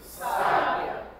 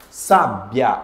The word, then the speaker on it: sábia: mim mais uma vez sábia sábia a mais forte é o s não é isso eu posso fazer sabia vira um verbo aqui